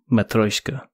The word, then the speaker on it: Matryoshka: Anyway, the game, did I pronounce the game completely incorrectly, first of all? Yes. Maybe a little bit. Matryoshka? Matryoshka.